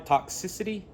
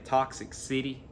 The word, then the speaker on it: Toxicity: don't know uh oh i have trouble pronouncing this system of a down toxicity i think i finally got it down at one time i was saying toxic city y'all gotta excuse me